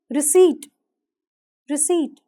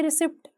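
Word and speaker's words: receipt: लेते हैं जैसे कि रिसी रिट यहां पर पी साइलेंट होगा लेकिन लोग कह देते रिसीप्ट लेकिन हमें पी को साइलेंट रखना है नेक्स्ट वर्ड है साइको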